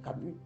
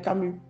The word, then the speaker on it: Camus: et c'est un activiste faut prononcer moi mon nom c'est Camu tu sais que je m'appelle Camu faut le faire ainsi